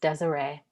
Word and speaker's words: Desire: She danced profusely, returned to her time when her name was Desire, pronounced Desiree, when everything was erotic,